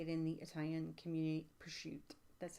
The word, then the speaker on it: prosciutto: onion oh you like prosciutto it's okay you know how they how you say it in the Italian community per shoot that's how you say